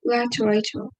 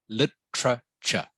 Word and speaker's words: literature: Literature. Okay. It is more like it has an I instead of the A, so it is literature. Literature. Yeah, better. Literature. That's how you pronounce it in English.